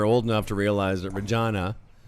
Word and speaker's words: Regina: enough to realize that Regina rhymes with vagina it really is a